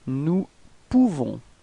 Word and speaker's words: nous pouvons: Nous pouvons. Okay, so you write this OU and you pronounce it OU. Okay, so if you combine it, you nous pouvons. Okay, you don't pronounce the final S.